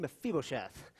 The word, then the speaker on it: Mephibosheth: That's how you say his name, Mephibosheth.